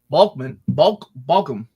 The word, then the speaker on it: Balkam: This is Balkam.